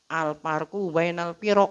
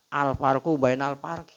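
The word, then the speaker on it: الفرق بين الفرق: hurufnya sama aja tuh alfarqu bainal piroq bacanya jangan alfarquu bainal parq Alfarqu bainal pirq bacanya ya.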